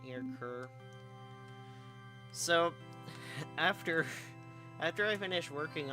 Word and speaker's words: Ker: I'm going with K-E-R. And like, and some of the playtesters read that as Care.